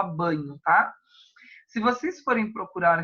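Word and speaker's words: Bagno: principal diferença Marcos banho como se escreve ba GN o Magno mas se fala banho Ah se vocês forem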